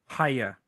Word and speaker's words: Hiya: actually still not sure how to say it hiya hiya okay that's okay that's what I thought